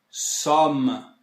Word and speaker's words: sommes: Plural agora, temos então nous sommes. Somme. Eu coloquei um acentozinho para fazer a distinção com o on, que a gente vai ver depois. Então a pronúncia é somme, somme, e tudo fica nous sommes.